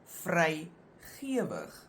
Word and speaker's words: vrygewig: In that case, that first part is pronounced ge. But in this case, the word looks the same, the second part, but it's pronounced gewig. Again, there's no rule. You just have to learn the pronunciation.